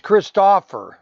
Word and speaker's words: Christopher: said just to call him Chris because I was pronouncing his name wrong. Yeah, it's Christopher.